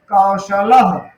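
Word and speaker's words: कौशलः: जो हमारा ये विसर्ग है कौशल में लगा हुआ है, इसका उच्चारण आधा हा की तरह होता है कौशल।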